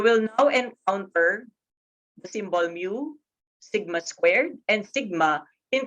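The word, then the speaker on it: μ: So we use the symbol mu. So mu is a Greek symbol. Okay, so it's spelled as M-Y-U.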